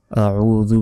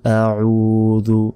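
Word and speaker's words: أَعُوذُ: আউযু, উ এখানে এক আলিফ টেনে পড়তে হবে, জাল পেশ জু, জাল অক্ষর অবশ্যই জিহ্বা বের করে উচ্চারণ করতে হবে।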